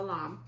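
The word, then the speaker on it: lame: This is a lamb, and it's spelled L-A-M-E.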